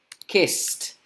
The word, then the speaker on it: kissed: No se pronuncia con la D, se pronuncia con la T.